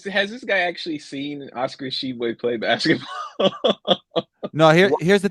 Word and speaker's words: Tshiebwe: It's just Tshiebwe. The T is silent.